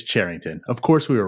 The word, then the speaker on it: Cherington: It is not Cherington. It is Cherington.